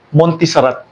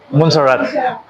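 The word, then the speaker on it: Montserrat: Ang gamit ko po ay Montisarat. Monarat. Montarat. Tama ba yung ano ko bro? Pronunciation ko? Monsarat.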